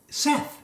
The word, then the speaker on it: Seth: I mean, Seth, it rhymes with Beth. Would you say beef? If you say B-E-T-H, would you say beef? But no, but they say Seth.